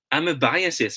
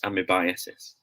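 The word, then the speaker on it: amebiasis: as amy biases okay we are thinking that it's pronounced as i mean because of the word amoeba right that the root word but then again it should be pronounced as i'm a biases remember that i'm a biases in the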